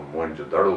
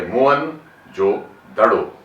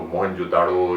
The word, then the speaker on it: موہن جو دڑو: اور کیا جاتا ہے۔ میں یہ وضاحت کر دوں کہ وہ لفظ ہے موہن جو دڑو، یعنی مرے ہوئے لوگوں کا ٹیلا یا مرے ہوئے لوگوں کا قبرستان، موہن جو دڑو۔ اس کو موہنجو داڑو یا ڈارو اور کئی اس کے تلفظ رائج ہو گئے ہیں، لیکن ضرورت اس